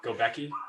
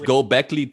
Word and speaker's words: Göbekli: You're going to nail that one day. Fuck it up again. Göbekli. It's Göbekli Tepe. Yeah, Göbekli Tepe.